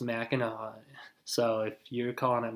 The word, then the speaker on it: Mackinac: on a mac and it looks like it's spelled mackinac well it's actually pronounced mackinaw so if you're calling it mackinac then you can just